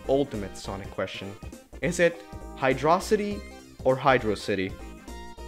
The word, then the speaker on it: Hydrocity: all arguing and it's weird but it is hydrocity because as you said it's a place city and hydrocity is not a word the only argument i've seen is that hydrosity uh like rhymes with velocity but that's it